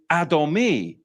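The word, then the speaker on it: אדומי: at the Hebrew the Hebrew for radi is adomi adomi and it's spelled Olive do me nun yod and it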